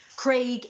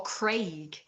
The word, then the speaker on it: Craig: Like, it's the Americans that pronounce it Craig and Graham. Because it's wrong. It's not pronounced like that. That is not how you pronounce it anyway.